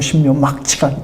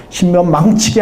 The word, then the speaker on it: 신묘막측: 인체가 너무 신묘막측하기 때문에. 신묘망측이 아닙니다. 발음을 잘해야 됩니다.